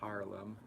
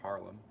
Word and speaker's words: Haarlem: So I think it is pronounced Haarlem instead of Harlem.